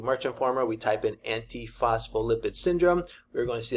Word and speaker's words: Antiphospholipid: I actually can pronounce it right here. Antiphospholipid. Antiphospholipid.